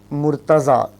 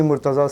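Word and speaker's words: Murtaza: Mortaza a bit challenging to pronounce. Yeah you can uh call me Mortaza sir. M u r t a z.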